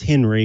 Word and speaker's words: Henri: His name is pronounced Henry, but I know it's spelled like Henri.